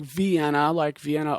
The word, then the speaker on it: Vienna: So you start, the race is in Vienna, Illinois. It looks like Vienna, Austria, but they seem to pronounce it Vienna.